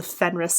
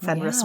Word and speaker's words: Fenris: name right yes yeah it's the Fenris like Fenris wolf yes that makes sense